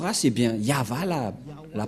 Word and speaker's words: Yahvah: chef T et bien yava la la prononciation et on va prendre en photo car certains aussi disent que que c'est yawa mais pas yava et c'est encore une une fausse un FA car la prononciation